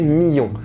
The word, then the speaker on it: Million: En fait, million ici devrait plutôt se prononcer million, puisque ça vient de millet, qui est une personne qui cultive certains céréales. Le mil étant un type de céréales.